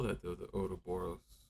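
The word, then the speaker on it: Ouroboros: though the oo boros oh close it's Oro boros with a it's a snaky little word with a powerful bite don't you think yeah but how do you spell it right sorry I forgot I was supposed to be teaching you not testing you oroboros remember it this way Ro sounds a bit like a pirates lament for his lost treasure yeah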